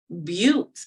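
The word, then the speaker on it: Beauté: in other languages and Buttes is how you really pronounce it which is French and I just love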